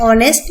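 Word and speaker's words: honest: Vowel लगाना है, एन ऑनेस्ट मैन। एन और जहां पे भी जो साउंड है वो वॉवल की है, तो एन लगाना है, एच जहां पे जो है वो साइलेंट है।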